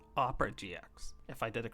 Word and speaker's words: Opera GX: I call it Oprah GX, but I'm going to try and pronounce it the correct way. Opera GX.